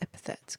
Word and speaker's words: epithet: Let's find out how to say this. It is epithet.